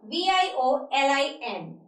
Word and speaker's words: violin: ठीक है, इस वर्ड की जो प्रोनाउंसिएशन जनरली लोग करते हैं वो होती है वॉयलिन. वॉयलिन जो रॉन्ग है, इसको हम ऐसे नहीं बोलते हैं. इसकी करेक्ट प्रोनाउंसिएशन है वायलिन. It's violin. It is violin. इसको ऐसे प्रोनाउंस करते हैं हम. इसको ऐसे प्रोनाउंस करते हैं violin.